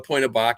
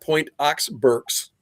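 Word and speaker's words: Pointe aux Barques: And I went up to Point of Bach. And by the way, if you're looking at the map, it's not Point Ox Berks, it's Point of Bach. That's the proper pronunciation.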